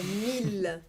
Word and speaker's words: mille: Mas na outra palavra ali, ele não tem som de I, né? Não. É mille. Mille. Significa mil. Mille. Vamos de novo, então? Mesmo. Travailler. Vocês Travailler. E? Mille.